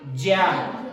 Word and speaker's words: ज्ञा: आप खुद सोचिए, जब इसका जन्म है, इस संयुक्त व्यंजन का जन्म ज प्लस इ से हुआ है, तो ग की ध्वनि कहां से सुनाई दे सकती है, इसलिए इसका जो उच्चारण है वो ज होता है।